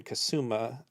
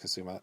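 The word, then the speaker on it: Kusama: invitation uh by Karen kasuma or I believe it's pronounced Kazuma uh who had a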